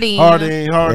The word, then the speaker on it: Jardine's: Shout out to Jardine's. It's pronounced Hardine.